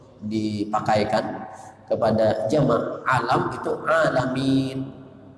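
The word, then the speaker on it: العالمين: kepada jamak alam itu alamin. Kalimatnya ain, jangan hamzah, alamin. Kalau salah tajwidnya bacanya alhamdulillahirabbil alamin, hamzah lain maknanya. Jadi itu ain, alamin.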